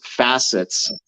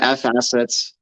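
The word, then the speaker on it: FAssets: it'll go to Songbird it's pronounced facets I'll call them F assets but I get it if it's called facets it's just I'm so dude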